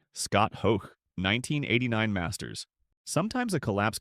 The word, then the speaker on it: Hoch: the enduring and unfair Hoch rhymes with choke quip that dogged him afterward.